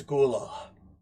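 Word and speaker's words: Gulaal: your name oh it doesn't matter it's it's gula Gula how do you spell that gulala gulal if you want to know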